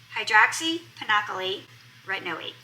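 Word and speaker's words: hydroxypinacolone retinoate: This has the newest member of that family, which is HPR, which is pronounced hydroxypinocolate retinoate.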